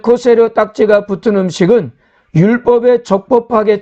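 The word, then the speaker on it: כשר: 영어로 코셔라고 발음하는데요, 본래는 코세르입니다. 즉 코세르 딱지가 붙은 음식은 율법에 적법하게 처리되어서 정결함에 문제가 없다는 것을 나타내주고 있습니다.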